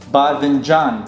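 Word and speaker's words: باذنجان: So in the modern standard Arabic, it's badinjan, but in the Iraqi dialect, betinjan, betinjan.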